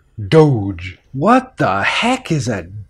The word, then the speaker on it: Doge: a hard G but if I add an e to it two things happen the all becomes longer to O sound the gut becomes softer to G so we would pronounce this word Doge what the heck is